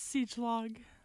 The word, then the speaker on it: Siedschlag: And so Madison came to us from Pierce, and she's going to pronounce her last name. It's Siechlog.